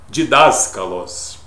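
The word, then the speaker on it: διδάσκαλος: didata é o didas didaskalos que é a melhor pronúncia é o professor Jesus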